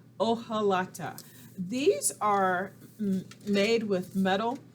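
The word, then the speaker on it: hojalata: make what's called an o halata i know that h is there but that's a silent letter o halata these are made with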